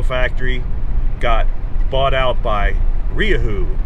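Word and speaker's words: Rieju: got bought out by riahoo and i think that's the correct pronunciation it's spelled like riju it's another spanish i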